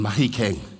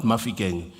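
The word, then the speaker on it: Mahikeng: It's the hotlas agiri from marikana side and then here between mahikang not mafiang you know for the white people you say mafiang it's mahik agiri barolong pronunciation.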